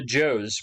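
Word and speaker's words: Zhou: and talk about the joe's pronounce uh i believe it's pronounced joe dynasty all right so these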